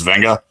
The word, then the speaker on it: Venga: By the way, his first name is Venga. If you say it, it's not Vega, it's Venga.